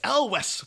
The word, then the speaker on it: Elwes: And maybe you bump into him in the street and he'll be like, oh, Cary Ewells. He'll be like, it's Elwes.